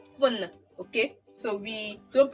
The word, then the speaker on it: téléphone: We are stopping the pronunciation at the N. Phone.